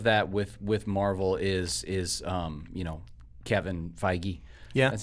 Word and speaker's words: Feige: Well, I think part of that with Marvel is Kevin Feige.